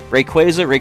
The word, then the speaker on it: Rayquaza: win let's go first so different pronunciations Rayquaza rayquaza if you say either or generally we know what you're talking about right so we have